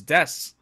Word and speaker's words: DESU. RABBITS: how they wrote it the pronunciation is the same because it's set in a Japanese Way which is des Wow looks like they